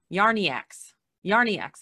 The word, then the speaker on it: Yarniacs: The Yarn Addicts, Yarniacs, that's the way you pronounce that.